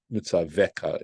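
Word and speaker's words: מְצַוְּךָ: these matters, asher anochi mitzavcha, which I am commanding you, mitzaveka is the way that's pronounced, leman yitav lacha, in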